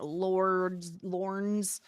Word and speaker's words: Lorne: have everybody is in Lorne's. Sorry, I keep wanting to say Lord. Lorne's world. It's just like Lauren. Lorne. No, Lauren. It's two. Lauren is two syllables. Lorne is just one.